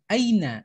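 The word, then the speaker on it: أين: tahu kan Nah Aina Aina Bukan tapi Aina karena disitu adalah ayahnya Ya Sukun bukan pakai Hamzah yang memakai apa kasrah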